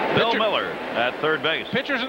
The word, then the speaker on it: Mueller: we were playing in New York and he pronounces his name Miller not muted sure doesn't look like it doesn't